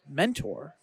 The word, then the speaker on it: Mentore: I'm excited to talk about Mentor, as I believe it's pronounced, spelled like mentor, but with an E at the end.